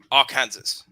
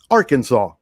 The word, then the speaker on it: Arkansas: And that's the one next to Arkansas.